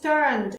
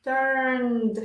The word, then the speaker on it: turned: Fíjense que el turned, cuando hablamos en pasado, la E no se pronuncia, decimos turned, turned. Termina en la D, turned.